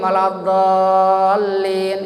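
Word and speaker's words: وَلَا الضَّالِّينَ: Jadi mesti harus 6 harakat. Jangan terlalu pendek. Ghairil maghdubi alaihim waladdallin. Itu kurang dari 6 harakat.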